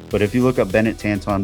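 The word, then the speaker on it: Benet Tanton: But if you look up Bennett Tanton, B E N E T, his last name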